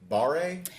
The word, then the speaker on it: barre: You mentioned it's spin, and it's barre? It's pronounced bar.